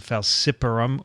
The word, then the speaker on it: falciparum: It's called Plasmodium falciparum or Falciparum. Either or is pronounced correctly.